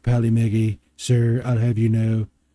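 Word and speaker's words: Polymega: follow meggy pearly Maggie it's pronounced Pali Maggie sir I'll have you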